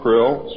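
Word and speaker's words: Krlll: His name and title was His Omnipotent Highness Krill, pronounced Krill, spelled K-R-L-L-L or C-R-L-L-L.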